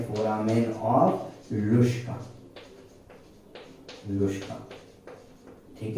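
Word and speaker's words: Luschka: ठीक है, लुश्का है और कुछ प्रोनाउंस नहीं करना है इसको, लुश्का ही है।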